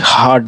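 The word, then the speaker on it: heart: लेकिन आप एक वर्ड है जो एक वर्ड है जो आ का उच्चारण देता है। जब ई जब देखिए एच ई ए आर टी हार्ट में एच इ ए आर टी हार्ट में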